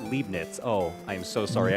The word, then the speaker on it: Leibniz: Oh, it's pronounced Leibniz.